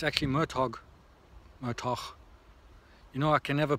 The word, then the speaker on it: Murtagh: Now it's actually Murtoch. You know, I can never pronounce his name properly.